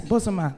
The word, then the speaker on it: Bozoma: Correct, and pronounce it. Yes, Bozoma, that's correct, And that for me, there's a